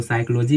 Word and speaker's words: psychology: आया, पी आया है, तो वहाँ पे हमारी जो पी अक्षर होती है उसका उच्चारण हम बिल्कुल नहीं करते, वो साइलेंट होती है। देखिए साइलेंट हो गया, हम इसको न्यूमोनिया पढ़ते हैं, इसको साइकोलॉजी पढ़ते हैं, ठीक है।